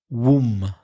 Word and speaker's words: womb: Womb.